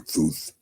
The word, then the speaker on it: Thoth: Or this would be the correct pronunciation, Toot or Thuth, but probably Toot.